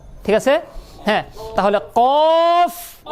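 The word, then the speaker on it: ق: লাস্টে ফটা বলে দিবেন ফ ঠিক আছে্যা তাহলে কফ ওই যে আমি বলেছিলাম আরবিতে ফা উচ্চারণ মানেই উপরের দাত নিচে ঠোট স্মরণ আছে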